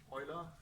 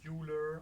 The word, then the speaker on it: Euler: that integrated Euler equation so Euler its Euler not jeweler are some things either